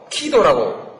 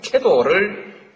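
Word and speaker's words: KEDO: 키도라고 발음합니다만 키도 또는 캐도를 받아들일 때 한국형 원자로를 한국 기술진에 의해서 건설하도록 용납했을 때 이미 북한은 한국의 기술에 에너지를 의존한다는 결정을 한 것입니다.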